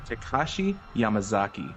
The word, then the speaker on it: Takashi Yamazaki: This is all thanks to, now I'm not going to butcher this name, Takashi Yamazaki.